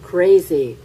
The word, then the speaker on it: crazy: Crazy, crazy. 발음 좀 아시겠나요? 그래서 crazy 하지 마시고 crazy. z 뒷부분에 z 발음이거든요.